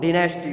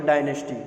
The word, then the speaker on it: dynasty: The powerful Pharaoh dynasty or dynasty, right? Both pronunciation are correct, dynasty also and dynasty also.